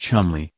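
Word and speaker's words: Cholmondeley: as the martianus of col Melly pronounced Chumley while Kate Middleton was pregnant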